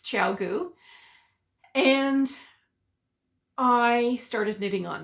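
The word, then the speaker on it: ChiaoGoo: heard of them before couldn't even pronounce the name I now know it's chaogu and I started knitting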